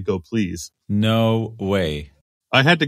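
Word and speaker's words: gopls: from the talk is the correct pronunciation of go PLS is apparently go please no way I had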